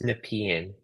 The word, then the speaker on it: Nepean: here oh it's Nepean yeah yeah people are pronouncing it's nepian I just realized that I'm so used to